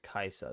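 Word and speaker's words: Kai'Sa: here sure um syus kaisa taken away syus kaisa there you go that's how you say it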